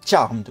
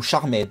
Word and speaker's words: Charmed: C'est Charmed ou Charmed ou Charmed. Comme vous voulez, voilà, il y a 3 prononciations.